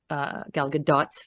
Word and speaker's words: Gal Gadot: person for the role because not only is Gal Gadot gal gadot's let me say her name properly um beautiful